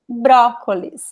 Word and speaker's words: brócolis: And in this word is the open sound. Brócolis is very open. I like to compare it with the word orange in English.